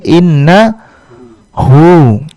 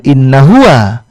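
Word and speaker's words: إِنَّهُ: Inna ditambah dengan huwa menjadi inna hu. Huwanya nanti akan berubah sedikit cara bacanya menjadi hu saja, bukan inna huwa, tapi kita baca menjadi innahu.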